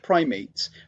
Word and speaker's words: primates: I know this looks like primates, but it's Greek.